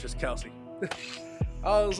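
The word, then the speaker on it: Kelce: Well, I got another little Jason Kelsey thing for you, and Travis Kelsey thing off their podcast. Supposedly, their last name is not pronounced Kelsey. Their last name is pronounced Kels.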